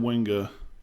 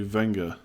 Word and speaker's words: Wenger: Stop saying Wenger, say Wenger. Arsene Wenger. Yeah, I do pronounce W, don't I?